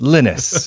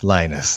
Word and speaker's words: Linus: yes, but he's Norwegian, and it's pronounced Linus over there and not Linus like it is over here.